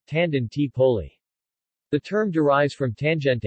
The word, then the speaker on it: Tangentopoli: was referred to as Tangentopoli Italian pronunciation Tandon T poly the term derives from